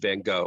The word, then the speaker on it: Vincent van Gogh: But that brings to mind the story of Vincent van Gogh, or Van Gogh, depending upon how you pronounce it.